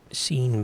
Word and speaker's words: Sean: And that is spelled and pronounced Sean, so I was cool with that, but this whole other spelling, not a fan.